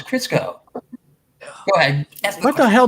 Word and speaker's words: Crisco: oil crisco really yeah i thought it was kisco no it's crisco go ahead what the